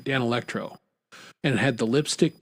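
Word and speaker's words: Danelectro: One was uh I won't say the name right. D'Angelo Dan No, Dan Electro. There we go. Now I'm saying it right. Dan Electro.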